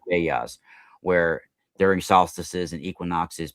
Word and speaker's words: Vedas: They're called Veglia, but they're yeah. pronounced Vedas, where during solstices and equinoxes, people would get together and pass along the stories of the ancient ones, right?